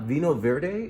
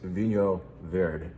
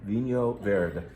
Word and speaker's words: Vinho Verde: Yes, it's not Vino Verde. It's the correct pronunciation of this wine type is Vinho Verde. Vinho Verde.